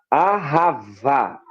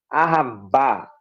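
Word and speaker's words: אהבה: É, no hebraico ou no Antigo Testamento, a palavra principal para amor é a, ahavá, né? Ou ahabá, ou tá no português, dependendo da pronúncia, ela é um hebraísmo, é uma pronúncia hebraica.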